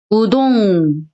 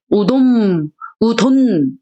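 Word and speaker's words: うどん: 우동, 우돈, 뭐가 편해요? 우동이 편하죠. 대신 이응을 길게 발음하는 거예요.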